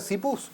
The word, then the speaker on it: CPUS: Se pronuncia CPUS. CPU. Bien, porque es con C, ¿viste? Podía ser Chipus o algo así.